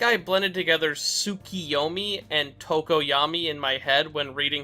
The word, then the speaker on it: Tokoyami: my dyslexia i have spent the whole video pronouncing tokoyami's name as tokiyami i think i blended together sukiyomi and tokoyami in my head when reading his name which